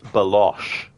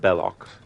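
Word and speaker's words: Belloq: referring to bellock but he mispronounces the name and he says balosh instead of bellock and Indie just you know realizes who's he's talking to and then just corrects him and says bellock right now this dude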